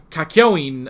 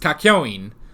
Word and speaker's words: Kakyoin: made you know uh kakyoin a zombie which i think that's how it's pronounced kakyoin uh which i think i was putting in an extra n last time so it's kakyoin i think with kakyoin